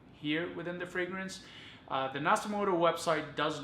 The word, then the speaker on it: Nasomatto: So to start off, so one thing I want to reiterate is that, or re-emphasizes that the pronunciation is Nasomatto, not Nasomatto as I was saying it. So Nasomatto.